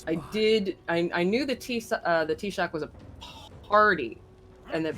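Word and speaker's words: Taoiseach: T-Shock is gay? What? Am I pronouncing that correctly? Yeah, because AOI is pronounced E, and then E is a slender vowel, so that would make the S and SH.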